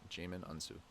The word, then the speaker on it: Djimon Hounsou: Djimon Hounsou.